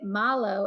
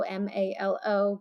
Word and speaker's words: Malo: but we made it Malo m a l o because that's how Australians say her name so they pronounce it